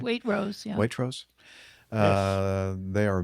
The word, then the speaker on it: Waitrose: Am I pronouncing that right? Waitrose, yeah.